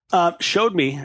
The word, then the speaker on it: Showd.me: thank you thank someone showed me as we pronounce it I maybe I should